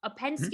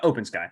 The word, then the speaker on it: Open Sky: to uh open skyhaven did I pronounce that right is it a Penske or Open Sky uh Open Sky yep you got it Open Sky Open Sky